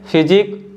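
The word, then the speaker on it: physique: pattern देख सकते हो इन तीनों में भी जो लेटर यू है य साइलेंट है और ई भी साइलेंट है और जो लेटर क्यू है यह कौन सा साउंड बना रहा है क साउंड बना रहा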